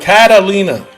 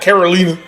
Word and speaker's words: Catalina: No, it's Catalina? Catalina. C-A-T. Not Carolina.